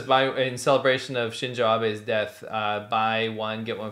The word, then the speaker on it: Shinzo Abe: So in celebration of the murder of Shinzo Abe is the correct way to say it.